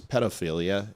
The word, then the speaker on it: pedophilia: You're saying it wrong when you say pedo. It's pedophilia. It's ped as in pedal.